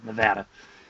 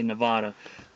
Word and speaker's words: Nevada: the state for the love of god please pronounce it as nevada because what it is it just grates on my nerves and others as well when people say nevada you know quite a few years ago in